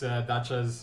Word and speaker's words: Dachaz: Or how do you pronounce Dachaz, or is it? So it's Dachaz.